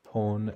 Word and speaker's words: pon: They're pronounced kan, pon, and kat.